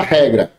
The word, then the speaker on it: regra: Então, por exemplo, a palavra regra, é só chamar. Regra. Qual é que mais se estende? O ré ou o gra? Ré.